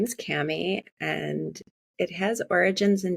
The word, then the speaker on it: Kami: grew up with your name my name is Cammy and it has origins in Japan but I